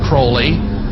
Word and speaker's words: Crowley: have his name pronounced crowley to rhyme with holy and the satanists today